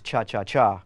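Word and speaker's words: cha-cha-cha: Chacha group actually actually the correct pronunciation is cha cha cha with three that's right is most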